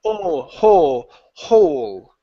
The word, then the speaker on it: hole: So, the difference in spelling hole. Okay. Hole is like howl is like this. That one howl. Okay. This one is closed mouth. Ho. Hole. Hole. There you go. That's the difference.